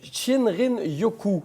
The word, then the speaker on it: Shinrin-yoku: Donc, on parle de Shinrin-yoku, si je ne me trompe pas. Oui, exactement. Vous le prononcez bien.